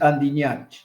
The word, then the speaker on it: Andiñach: Doctor, el apellido suyo siempre me cuesta pronunciarle. ¿Cómo es Ah, exactamente? bueno, es Andiñach.